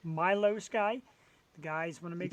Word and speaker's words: Milou Sky: spray painted there's Milo m-i-l-o-u Sky it is pronounced Milo Sky the guys want to make sure they just